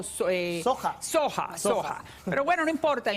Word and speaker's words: soja: Tienen, me dicen que se dice no soya, sino soja.